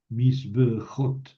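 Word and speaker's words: מִזְבְּחוֹת: La pata furtiva se añadió para facilitar la pronunciación, misbeach. Y aquí desaparece esa pata furtiva y en el plural me queda misbejot.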